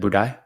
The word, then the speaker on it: Budai: Is it Budai? It's like Dubai but but uh but Budai.